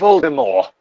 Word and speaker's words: Voldemort: Or at least the Mort part, because that was originally pronounced More. But then the movies came out, and for some reason they pronounced it Mort.